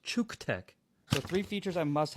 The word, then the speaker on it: CUKTECH: Guys, this is not pronounced Cock-Tech. As much as you and I both want to pronounce it Cock-Tech, it is pronounced Chuke-Tech.